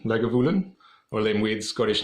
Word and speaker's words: Lagavulin: Llewellyn they got a pronounce it like a beggar villain Lagavulin or Lynn with Scottish